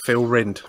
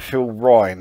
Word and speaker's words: Phil Rind: it's just a good band phil rind by the way that's it yes i always used to keep pronouncing it phil ryan for some reason well it smells like you